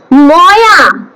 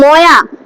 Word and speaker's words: ময়া: ময়া, বাদ বাকি কি আছে? ময়া হবে না, ঠিক আছে? সংস্কৃতে হয় না তার উচ্চারণ। মায়া, MAYA হয়, ঠিক আছে?